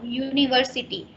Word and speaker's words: university: When you say this word, what comes first? What sounds? I'm talking about sound. You say ya.